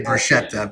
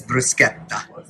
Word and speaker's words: bruschetta: People say bruschetta, but in Italian it's bruschetta.